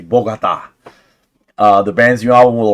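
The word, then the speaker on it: Bogotá: Let me pronounce it correctly. Bogota.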